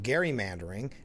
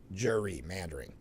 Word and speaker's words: gerrymandering: It's actually pronounced gerrymandering after governor.